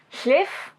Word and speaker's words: Llif: uh so I am making Schiff I think that's how you say that but I'm not sure because I don't speak Welsh uh by Theresa shingler